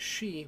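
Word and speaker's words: し: These characters follow our pattern of a, I, u, e, o, with the slight exception to this is she, which adds the soft H sound.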